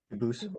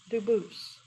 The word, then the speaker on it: Dubus: They do pronounce it dubis, but you said you pronounce it doo dus as the original dubus as the original French. Yep. Very well. Duboose.